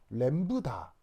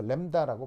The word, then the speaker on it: 람다: 그리고 네 번째, 바로 이렇게 쓰고 읽을 때 램브다 라고 읽어요. 램브다. 근데 이제 빨리 발음해서 램다라고 발음을 하죠.